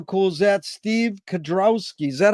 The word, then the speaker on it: Kedrowski: Steve Kedrowski. Is that how you pronounce it, Steve?